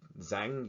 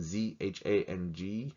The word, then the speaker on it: Zhang: If you say the name Zhang, you're mispronouncing Z-H-A-N-G. It's Zhang. Probably my Z sounds off, but just, yeah, there is no A in the Chinese language sound, the phonetic of A.